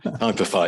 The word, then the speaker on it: Typify: It's pronounced Typify. Typify, yes.